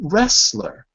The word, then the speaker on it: wrestler: it the word is wrestler what what letter is silent in wrestler class right wrestler what's the silent letter say again Julia louder picking the T is silent in wrestler the tea is always